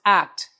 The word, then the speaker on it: AKT: The company is called AKT and it's pronounced act.